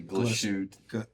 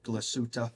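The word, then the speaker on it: Glashütte: I always say it wrong. I say glashute. Glasuta. Yeah, let's go with your version.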